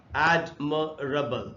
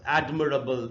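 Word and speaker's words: admirable: आते four syllable word ये word है जैसे एडम रबल एडमिरेबल इसका प्रोनंसिएशन है इसको एडमिरेबल नहीं पढ़ना चाहिए तो हम सिलेबल काउंट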